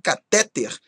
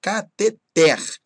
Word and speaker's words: cateter: que ser a última eu acrescentarei aqui também a palavra catheter que também é oxítona pessoas instalar cateter não tá errado catheter ok e já as